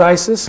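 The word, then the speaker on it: IS☉IS: slip of the tongue it was initially called Isis when we proposed the spacecraft back in 2010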